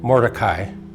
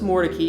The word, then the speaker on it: Mordecai: that's how it's pronounced the more turkeys actually changed the pronunciation of their name in the early 1800s we're not sure an exact reason why but Moses more Turkey at some point when he moved to Raleigh and married into the lane family changed pronunciation from Mordecai to more Turkey and the more turkeys